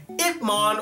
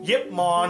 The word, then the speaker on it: Ip Man: Teaching the ways of martial arts is my number 10 choice, Ip Man, or Yip Man, however you want to pronounce it, from Ip Man.